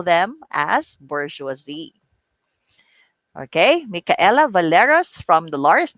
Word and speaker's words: bourgeoisie: right even before but the pronunciation of this is bourgeoisie that is right bourgeoisie so it is a